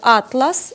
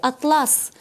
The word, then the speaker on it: атлас: Можна сказати «атлас» і можна сказати «атлас». Але зміниться від того значення самого слова.